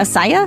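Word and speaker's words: açaí: one i know right asia is that's how you pronounce that asaya i always thought it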